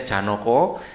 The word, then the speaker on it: Janaka: yang ksatria tersebut bernama janaka atau Janoko Gem basa Jawa bacanya Janoko yang bersifat halus dan